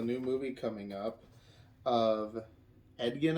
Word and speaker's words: Edgin: movie coming up of edgon I think that's how you pronounce his name or Egan e-d-g-i-n-e-d yeah and but he's being